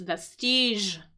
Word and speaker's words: vestige: So great one uh great interesting word interesting word and again the pronunciation of that know is vestige that sort of that J sound or soft G sound.